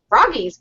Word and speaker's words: Froggy: or information on foggy Froggy's fog why do I keep wanting to call it foggy you pronounce the company's name right geez Froggies B froggy that's right how are you doing